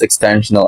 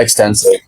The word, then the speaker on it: extensional: It's pronounced extensional identity. Not extensive.